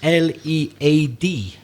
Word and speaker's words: lead: The letters L-E-A-D could be pronounced in two different ways. We could say lead, to be a leader, to go first, and you got the followers behind you, you're a leader.